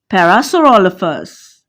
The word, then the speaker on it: Parasaurolophus: I want to solve the problem of Parasaurolophus, said Professor. Parasaurolophus. PH sounds F, said Professor Penelope.